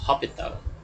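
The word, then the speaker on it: L'Hôpital: It's spelled as hospital, but because this person, Hopital, is French, they pronounce it as Hopital. S is silent.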